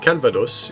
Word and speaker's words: Calvados: Some names, like Calvados in Normandy, are exceptions.